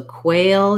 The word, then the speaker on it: quail: have as much length so quail you're going to be long because of that diphthong a and then quill is